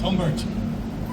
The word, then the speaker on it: Humbert: But it was great for them for that moment to see General Humbert, Humbert, I suppose would be pronunciation, that would be pronounced as Humbert.